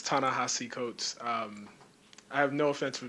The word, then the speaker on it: Coates: It's Ta-Nehisi Coates. I have no offense for people mispronouncing my name.